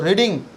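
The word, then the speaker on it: read: রিডিং, আইএনজিটাকে হাঁটিয়ে দেবো, রিডের 3টে form তো সেম, তাহলে পাস্ট ফর্ম রিডি, উচ্চারণটা রেড হয়, ব্যাস হয়ে গেল।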